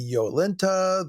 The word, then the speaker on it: Jolenta: Jolenta would be Yolenta, the classical Latin consonant rendered as the English J and being pronounced like an English Y, etc.